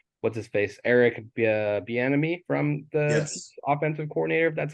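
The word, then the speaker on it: Bieniemy: he has um what's his face Eric uh B enemy from this offensive coordinator that's how you pronounce it correctly yeah who loves to use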